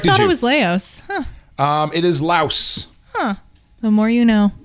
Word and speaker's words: Laos: it look like she was Laius it is Laos huh no more you know yeah one of